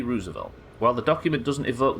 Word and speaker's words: Roosevelt: China war that caused the Apocalypse Roosevelt Roosevelt Roosevelt is how you say it Roosevelt Roosevelt towns